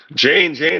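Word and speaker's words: Jeyne: Jane, it rhymes with Dane. Yeah, well, and that is the real first wife of people who yeah, the real wife. So yeah, that's a good point. Jane rhymes with Dane.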